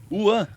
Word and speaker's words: Wan: tudo né mas o meu nome é w é uan se pronuncia então eu não recebeu